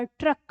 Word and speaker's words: ट्रक: ठीक है, इसमें भी ट का उच्चारण आधा है, र का पूरा, ट्रक, रक, र पूरा है।